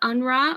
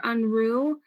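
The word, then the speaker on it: Unruh: One of them is UNRRA or UNRU. People pronounce it both ways.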